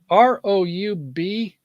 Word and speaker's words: Roubaix: But anyway, I thought that was kind of an interesting picture there that I saw from Roubaix in France. I know the That's, AIX, they don't pronounce the X's.